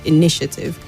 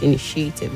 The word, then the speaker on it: initiative: The stress is on the second syllable for that word, initiative, and not initiative, like you said.